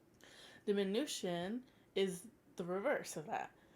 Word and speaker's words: diminution: terms uh augmentation and diminution and yes it's pronounced diminution so augmentation diminution augmentation of course is when